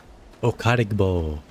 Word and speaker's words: Okadigbo: Okarbo. That's how you say it. It's I think it's Nigerian or something.